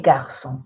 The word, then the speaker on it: garçons: If I say les garçons, it's the boys. Because in garçon, you won't be able to hear the plural. There is an S, but you don't pronounce it.